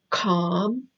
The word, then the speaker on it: calm: connected other side calm the L is silent calm so it sounds like